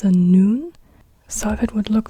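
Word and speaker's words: نون: we are talking about so noon an n Sound and now we have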